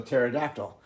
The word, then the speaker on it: pterodactyl: you've seen pterodactyl written it's written with a a silent p i don't know why